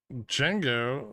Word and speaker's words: Django: Django, the D is silent.